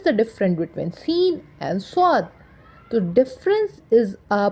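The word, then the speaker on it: صاد: difference between seen and swad? The difference is a pronunciation and the voice modification. Like a seen has a thin voice and swad has a hard voice.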